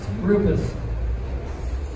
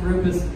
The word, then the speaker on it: Rupes: a couple of minutes here so it is pronounced Rufus in case you are wondering how to save him it is pronounced Rufus and if you roll the heart the Italian